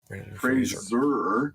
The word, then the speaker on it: Fraser: I'm Brendan Fraser that's Fraser sounds like Razer which has been mispronounced all my career but why we were